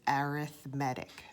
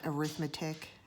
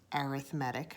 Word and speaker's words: arithmetic: in series okay so the way you pronounce that again is arithmetic okay not arithmetic arithmetic okay sequences in series